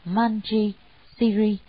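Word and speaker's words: Mañjuśrī: Ngài Văn Thù Sư Lợi, nguyên tiếng Ấn Độ đọc là Manji Siri, chữ Hán là Diệu Đức, Diệu Cát Tường.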